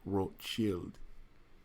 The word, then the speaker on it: Rothschild: red shield in German the name is Belle Rothschild and his pronounced world chilled in 1787 and she'll